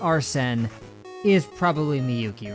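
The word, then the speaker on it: Arsène: I went back and listened, and it sounded like they pronounced it Arsene, not like Arsene or whatever I said.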